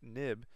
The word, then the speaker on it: xib: the that xib file which is pronounced nib right it's an old term nib file we're going to see